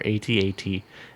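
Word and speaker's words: AT-AT: that definitive definitive verdict the official pronunciation for atat is the phonetic one as it rhymes with hat hat throw it on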